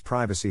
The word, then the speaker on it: privacy: Phonetic Alphabet to pronounce privacy have in mind that the size of the syllable indicates where the accent or stress is in this case the accent is in the first syllable corresponding to prai below are other ways